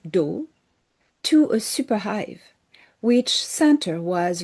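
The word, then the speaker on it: Dow: They're called the do. The do is the name of their space species. D O W pronunciation.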